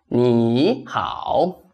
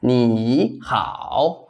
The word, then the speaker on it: 你好: Third tone changes into second tone when it goes with another third tone syllable. Let's see. See the example. This one. Everybody is familiar with this one. 你好.